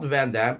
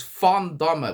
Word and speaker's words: Van: way in Dutch not vanam it's fond with the F the V is pronounce